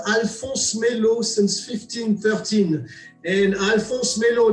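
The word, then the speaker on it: Alphonse Mellot: First, how do you pronounce the name of the brand? So Alphonse Melot. Alphonse Melot. It's very simple. Alphonse Melot.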